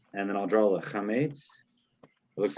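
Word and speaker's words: קמץ: It's called a chametz, or you can call it a comets if it's hard for you to pronounce. It's a chametz.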